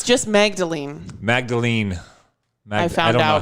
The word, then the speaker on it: Magdalene: The Magdalena laundries. It's just Magdalene. Magdalene. I don't know how they pronounce it. I found out when I was typing it up. It's just Magdalene, like Mary Magdalene.